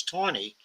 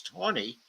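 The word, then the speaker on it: Taney: chief justice uh Roger Tony in the correct pronunciation is Tony I know it's spelled as tany but the pronunciation is Tony Roger Ton's 1956 Dread Scott versus Sanford decision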